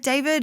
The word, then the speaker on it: D4vd: David, I should note, is spelt, his artist name is spelt D4vd. So it looks like David.